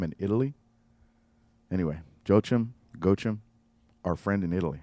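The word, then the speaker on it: Joachim: cofler I think it's gim gim pronounce it with a G not a j even though it's spelled with a j j o a c h- i m in Italy anyway joim go him our friend in Italy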